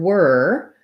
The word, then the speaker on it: were: So the letters OR can say the ER sound. The word were has the sound, and so does work or word.